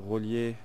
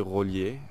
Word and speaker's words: Rollier: I think it would be your Rollier. Roller is definitely Rollier. R-O-L-L-I-E-R. Rollier. D'Abyssinie. D'Abyssinie is... I think you spell it A-B-A.